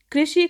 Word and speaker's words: कृषि: पीछे नहीं जा पाती जबकि यदि ऋ का ऋ के बाद श का उच्चारण करना है तो जीभ को पीछे ले जाना ही पड़ेगा और ऐसा सिर्फ तभी संभव है जब आप ऋ का उच्चारण भी वहीं से करें जहां से से श का उच्चारण किया था तब आप ऋषि और